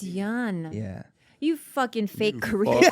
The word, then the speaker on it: Yeun: You guys keep pronouncing my last name wrong. You Yes. motherfuckers. Yes. we have you too. It's yeah. It's Yeun. It's Yeun.